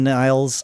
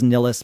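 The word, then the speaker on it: Nilles: And and I I was aware of Anakin Niles. I believe Getty pronounced it Anakin Niles. I thought it was Nillis, but uh I I I'll go with with Getty's pronunciation.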